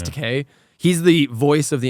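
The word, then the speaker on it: Takei: the show is George teay really yeah it actually is George te or George teai I don't know how he say his name I think it's teay he's the voice of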